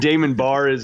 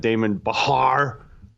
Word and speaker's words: Damon Barr: And Damon Barr is on the board, much easier to pronounce. We are pronouncing that right. Yeah, much harder to confuse that one. It's not Damon Bahar, it's Barr.